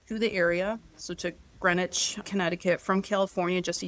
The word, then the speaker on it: Greenwich: I find it interesting looks looks like Greenwich, but look like Greenwich, but it's pronounced Greenwich.